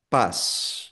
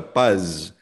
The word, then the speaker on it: paz: Sapato, sona, pas hindi siya paz parang s lang.